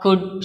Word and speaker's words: could: So, here K is silent. And what about L? There are could, should.